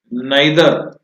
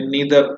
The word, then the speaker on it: neither: ये लॉ ये कहता है या ये बताता है एनर्जी कैन नाइदर या नीदर, जो भी तुम प्रोनाउंस करते हो, नाइदर बी क्रिएटेड, बनाई नहीं जा सकती, पैदा नहीं की जा सकती, क्रिएटेड, नॉर।